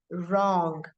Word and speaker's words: wrong: of w r so as in words like wrong wrong W is silent in words like war